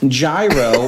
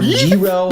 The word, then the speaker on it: gyro: this is a beef gyro or jro however you want to say guo some people pronounce it different ways depending on where you're there such thing as a